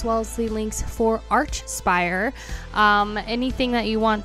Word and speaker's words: Archspire: to be listening to Arch Spire for the very first time hopefully I'm pronouncing that right I think it's Arch spire and not Arc Spire if I'm wrong correct